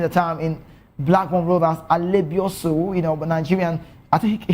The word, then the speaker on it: Alebiosu: If you're Yoruba, you pronounce Alebio Show. The calling back in the time in Blackburn Rovers, Alebiosu, but Nigerian, I think he hails from the west, the Yoruba part of Nigeria.